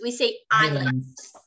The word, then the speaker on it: islands: in a Canary Islands and Islands we don't pronounce the L the S is we say Islands and the Argentina and I studied for two